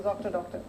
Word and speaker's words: Zoctr: zor and of course it rhymes with doctor so Z doctor right now coming straight